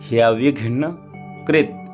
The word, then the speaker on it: ह्यविघ्नकृत्: यहाँ थोड़ा देख लें, हा है और या, तो हिया हो जाएगा, और विघ्न वी फिर घा फिर ना, तो घा आधा है तो विघ्न यविघ्न कृत, ता हलंत है तो कृत, यावत कर्म समाप्ति स्यात् तावत् त्वं सुस्थिरो भव।